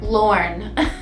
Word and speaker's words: Lorne: Lorne.